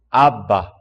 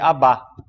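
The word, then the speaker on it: Abba: Vox crist a própria voz de Jesus falando Aba Pai é um só um par uma nota de rodapé a pronúncia em aramaico é ABA como em grego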